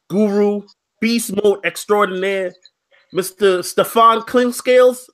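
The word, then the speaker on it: Steph Clinkscales: Stephclinkscales. Did I pronounce your name right? You pronounced it perfect, brother.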